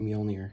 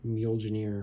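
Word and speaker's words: Mjölnir: and yes that's how you pronounce it you pronounce it mjolnir because some people pronounce it mule janeer or something so what i did was i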